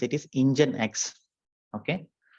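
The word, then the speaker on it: nginx: So we pron we pronounce it as not engineix it is engine x. Okay engine x.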